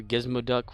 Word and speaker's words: Gizmoduck: Gizmoduck. Remember, he wasn't Gizmo Duck, he was Gizmoduck. That's how Scrooge would say his name.